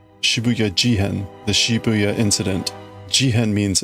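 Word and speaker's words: 渋谷事変: Because that's the pronunciation. Shibuya Jihen.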